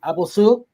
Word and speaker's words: Abouelsoud: who have the same last name but they pronounce it differently. Abulu.